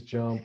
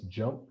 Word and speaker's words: JMP: So that is known as JUMP. You see it, as JMP, but it's just pronounced JUMP, and SAS is actually just pronounced SAS.